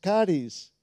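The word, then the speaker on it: χάρις: Luego tenemos otro concepto que viene del griego, porque la palabra en griego para gracia es charis, se escribe charis, charis.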